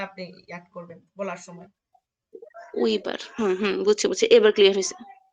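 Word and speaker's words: über: ওয়েস্টারাইশ, তারপর হচ্ছে উবার, উইবার, উবার, উইবার, এই যে উইবার, এটা ও নিবেন।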